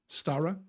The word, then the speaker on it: Stara: Am I saying that correctly? Stara? Stara, yes. Stara, yes. Obviously, yes. You have to pronounce the R.